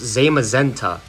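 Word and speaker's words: Zamazenta: watched a YouTube video how to pronounce this Pokemon but it's Zema zenta I'm gonna put all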